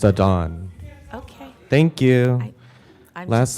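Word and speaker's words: Adan: genocide Ed thank you Aiden followed by Bryan followed by Lauren Aiden welcome Aiden my name is Adon I told you that time my apologies it says a d an it's pronounced a dawn okay thank you I'm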